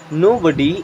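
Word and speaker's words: nobody: होता है नहीं एंड बॉडी मीन्स होता है शरीर, इसे अगर अकेले BODY होगा तो इसे पढ़ेंगे बॉडी, ठीक है। बट जब नो के साथ में तो इसे पढ़ेंगे नोबडी।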